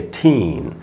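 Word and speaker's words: teen: है कोई सा भी, तो टीन में डबल ई है भी, वैसे भी डबल ई से वैसे भी पता चल रहा है कि यहाँ पर बड़ी ई का साउंड होगा।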